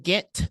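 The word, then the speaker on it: Ghent: the Capital District of New York it's in get New York it's not spelled Gantt it's spelled g-h-e-n-t so I learned that while I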